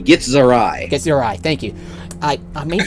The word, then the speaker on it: Githzerai: The proper pronunciation with the Gith races is Githyanki and Githzerai.